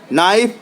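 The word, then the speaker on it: knife: यहां B silent है नाइफ पढ़ते हैं यानी के साइलेंट है वक पढ़ते हैं यानी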